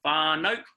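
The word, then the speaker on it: whānau: word plenty bar no spell WH a with a tote or a macron above it a became it elongates them that sounds a rather insane fun no we same far-far know so it's a long a sound far note so WH a with a macron in a you now that a you sound at the end of the word far note really trips a lot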